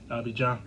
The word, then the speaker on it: Abidjan: Just in case, a couple of you Ivorians is tuned in and y'all say, oh, you didn't pronounce it right. Abidjan.